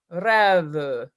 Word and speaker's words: rêve: When you do right at the beginning, oh Dieu, est un rêve charmant, rêve. The second syllable of that is a mute E.